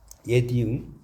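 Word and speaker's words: 옛이응: 이거 옛 이응이라고 읽어요. 옛 이응. 여기 옛 이응.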